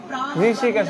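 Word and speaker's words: হৃষীকেশঃ: আমরা জানি কি যদি শব্দের শেষে কি থাকে, হ্যাঁ অনুস্বার না, যদি বিসর্গ থাকে তাহলে তাহলে আংশিক হ উচ্চারণ হবে, আংশিক হ, অর্ধ হ, যেটাকে বলে অর্ধ হ শব্দটা যেন একটু অ আসে।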